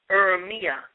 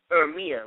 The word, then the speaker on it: Urmia: If the date is not correct, just type in Urmia, Urmia. Well, that's how I pronounce it.